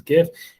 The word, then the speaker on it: GIF: can't do jeff it's it's the chronic correct pronunciation is gif even though the author of it said it's jif but i think that's grammatically your pronunciation is